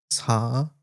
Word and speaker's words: 사랑해: I think I need to remember saranghae because I know that ends with ae, but that's pronounced with the like he. He, yeah. Because I know that word. Yeah. 사랑해.